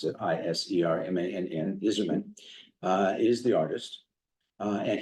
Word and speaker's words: Isermann: Jim Iserman, and that's how you pronounce it, Isermann, Iserman, is the artist.